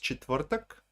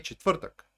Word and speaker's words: четвъртък: The word is Thursday. It's pronounced четвъртък. Okay, четвъртък. That's Thursday, четвъртък.